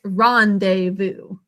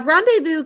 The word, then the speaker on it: rendezvous: both of those and i think i'm pretty sure this pronunciation is similar to other french words when you see that easy together it's an a sound and the ous makes an u sound okay time for our